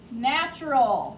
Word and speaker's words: natural: is the word natural natural make sure you're paying attention to how it's spelled because you hear the ch sound but there is no ch natural n-a-t-u-r-a-l the reason